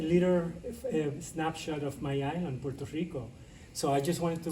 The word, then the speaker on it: Puerto Rico: It sounds like Costa Rica, right? But it's pronounced Puerto Rico.